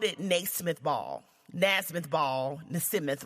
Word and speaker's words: Naismith: James nasmyth I think that's how you say his name I don't know oh excuse me Titus told me it's Naismith all right well he